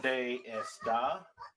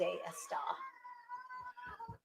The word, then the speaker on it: dónde está: No, it's not está. ¿Dónde está? Remember where the accent is located.